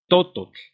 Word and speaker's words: tototl: La lengua náhuatl se acentúa como palabras graves, que quiere decir que en la penúltima sílaba lleva el acento, es decir, tototl, ¿sí? Está en la penúltima, en la to, digamos, penúltima se acentúa, pero sucede el mismo